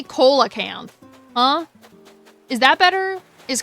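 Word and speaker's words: coelacanth: Celucanth is like the stupidest pronunciation ever. So, I'm sticking with Coella because mine sounds better.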